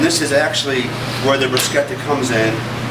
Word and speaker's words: bruschetta: going to make a bruschetta that's right it's pronounced bruschetta with a nice tomato basil topping first i'm